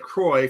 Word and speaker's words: Croy: declaration on this lieutenant croy from the star cruiser rhymes with troy from the high school musical trilogy would you call that